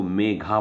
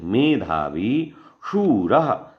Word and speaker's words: मेधावी: मंत्र राज जागृति मेधावी कई लोग इसको मेघा पढ़ने नहीं मेधावी शिक्षण सही उच्चारण करोगे तो सही लिखोगे नहीं तो गलत लिखोगे प्रश्न है तो आपको